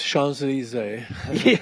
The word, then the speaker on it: Champs-Élysées: Yeah, it's Champs-Élysées.